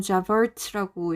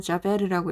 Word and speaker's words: Javert: 이게 프랑스어로는 자베르거든요. 근데 영어로는 자버트라고 읽어야 되는데 저는 자베르라고 읽을게요.